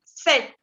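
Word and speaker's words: sept: 7, on dit 7. La P no se pronuncia.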